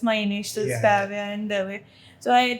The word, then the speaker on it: Kavya: just first say how it is pronounced and then you can talk about So my name is actually pronounced as Kavya. And I have heard Kava, then Kaiva, and Kavya.